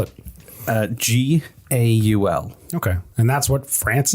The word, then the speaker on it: Gaul: he was a goal anyway how do you spell it uh g-a-u-l okay and that's what france is today usually